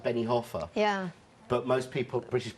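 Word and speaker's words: Benijófar: places places yeah places where i lived like benny hoffa yeah but most people british people pronounce it benny joffer yeah and quesada there's no way anyone would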